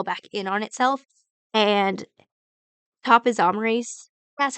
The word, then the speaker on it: topoisomerase: And topoisomerase, that's how you say it.